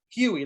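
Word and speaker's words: Hughie: i thought it was huey huey okay huey right sounds like h h-u-h-u-g-h-i-e so i don't pronounce the g huey like huey dewey louis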